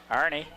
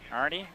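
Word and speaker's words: Arne: uh runner for Lincoln Arie that's the way you pronounce a r n e AR I'd say it Arie or ar one the other there are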